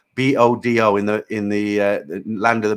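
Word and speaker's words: Bodø: I was up in Buda. Bodo in the land of the Midnatsel. I pronounced it wrong.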